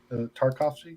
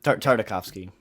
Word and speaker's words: Tartakovsky: Tarkovsky or Tartakovsky? Tartakovsky. Tartakovsky.